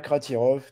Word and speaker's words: Kratirov: Kratirov, tout bêtement, comme ça se prononce.